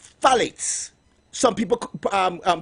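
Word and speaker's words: phthalates: There's something called phalates. Some people um um pronounce it fitates, but salates it's spelled P H T H A L A T E S.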